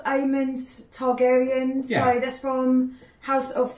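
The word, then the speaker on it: Aemond Targaryen: oh my god um I think it's pronounced aan targaryan so that's from House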